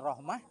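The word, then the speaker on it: رحمة: Bil dan diwakafkan akan Rahmah dengan ha itu masuk rahmatun kalau kita wakaf Rahmah jadi ha k jadi ha tulisannya tetap ta bacanya Rahmah kan gitu Rahmah tapi di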